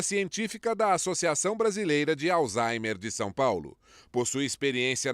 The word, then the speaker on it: Alzheimer: É Alzheimer a pronúncia correta? Isso, é alemão. Alzheimer.